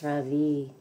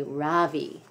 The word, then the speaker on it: Ravi: It's pronounced Ravi with a soft ra and a strong V. It is in Sanskrit, it means the sun. In America, people call me Ravi with the stress on the first syllable.